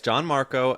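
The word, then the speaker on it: Gianmarco: Am I butchering it? No, it's Yeah, it's John Marco.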